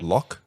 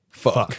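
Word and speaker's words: Phúc: And he pronounced it as Locke. But obviously, in English, PH makes an F sound, and then FUC sounds a lot like fuck.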